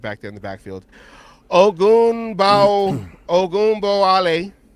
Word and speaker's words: Ogunbowale: Ogunbowale. 4 carries. Did I say it right? Close. Ogunbowale.